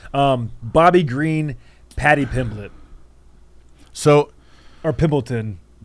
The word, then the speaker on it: Pimblett: Or Pimbleton. Pimblett. So here, why are you pronouncing it wrong?